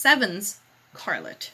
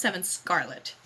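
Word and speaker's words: 7'scarlet: It's 7's Scarlet. It's not 7 Scarlet.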